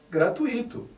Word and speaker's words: gratuito: a pronúncia correta é gratuito assim como circuito intuito e fortuito o acento não existe